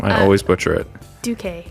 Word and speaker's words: Duque: Duque. Duque.